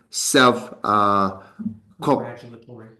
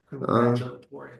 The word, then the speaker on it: self-congratulatory: you should not be self Congratulatory. Oh wow, it's difficult to pronounce. Okay, Congratulatory. Like congratulations. Congratulatory. Self-congratulatory.